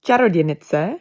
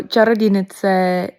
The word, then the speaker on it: Čarodějnice: It's pronounced Čarodějnice, but you were so close. So close. Yeah. Also, Čarodějnice, it means witch literally.